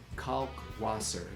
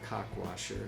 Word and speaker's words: Kalkwasser: So, um, remember caulk waser, not cockwasher.